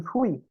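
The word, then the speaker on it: pfui: E depois elas falam aqui esse fui, com o P mudo, aqui, quer dizer, o P você não pronuncia. Você fala assim, fui, significa um ECA em português.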